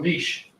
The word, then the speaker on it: niche: need to understand this term ecological niche or Niche however you want to pronounce it either way this is an organism's